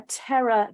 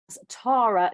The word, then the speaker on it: Terra: Your planet Earth then moves through a transformation through what we call a Terra gateway, or pronounced by some as Tara gateway, known also as the